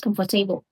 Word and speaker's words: comfortable: Not comfortable.